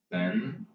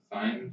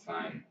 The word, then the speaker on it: sine: I have no idea what happens on a graph once you sum sin plus cosine, sine plus cosine. Oh wait, I've been pronouncing it like sin, as in sin, but it's sine.